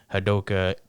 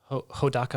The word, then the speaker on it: Hodaka: Then we have our boy over here, Hadoka Mirashima, who is 16. Wait, what's his name? Huh? What's his name? Hadoka Morishima? Hodaka Morishima.